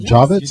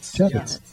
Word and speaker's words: Javits: say say that right is it Javits or Javit Javits I got it right wow that's rare you